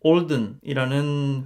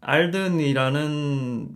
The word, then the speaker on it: Alden: 두 제품 모두 미국의 올든이라는 회사의 제품이고요 어 우리나라에서는 알든이라는 명칭으로 많이 불리고 있어요 어 철자가인데 현지 사람들은 든이 아니라 올든 가깝게 발음을 하고 있고요 그래서 저 저는 오늘